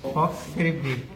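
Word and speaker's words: falx: এফ এ এল এক্স ফক্স এল টা silent থাকবে এফ এ এল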